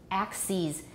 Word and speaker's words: axes: analysis the pluralist analysis you replace the i with an e and you pronounce it ease so analysis analyses basis bases axis axes the confusing thing is it's